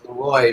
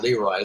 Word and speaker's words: Leroy: I will mention that I was friends with Leroy Anderson's son, who told me that he pronounced it Leroy, not Leroy.